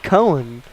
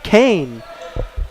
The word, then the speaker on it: Cohen: That sure is spelled like Cohen, or Cohen, or Cone. But he's saying Kane.